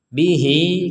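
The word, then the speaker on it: بِهِۦ: Bihi kita juga panjangkan karena ada ya kecil.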